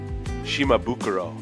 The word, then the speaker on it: Shimabukuro: Japanese pronunciation is Shimabukuro.